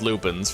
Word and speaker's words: lupine: It's spelled Lupine. I don't know. I know that they're called Lupens for sure. I I don't know why they're spelled Lupine, though.